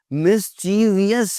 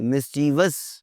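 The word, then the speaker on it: mischievous: किया हुआ है, मिसस्पेल, मिस्चीवियस नहीं कहना, शरारती, मिस्चीवस, मिस्चीवस। अगर आप क्लाइंट के सामने कहीं पे बात करेंगे जी मिस्चीवियस, तो गलत हो जाएगा जी, इट्स मिस्चीवस।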